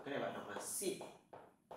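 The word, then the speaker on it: 信: Cái này bạn đọc là xịn.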